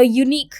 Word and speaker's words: unique: a unique fruit now unique this word unique pronounces as unique so it is pronounced as U it means a consonant sound therefore we need article